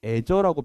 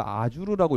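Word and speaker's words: Azure: 하거나 그러지 않겠습니다 예 애저라고 표현하고 일본 분들은 이거를 아주르라고 읽더라고요 어떤 분들은 아주리라고 있는 분도 계시고요 하여간 여기에 제가 제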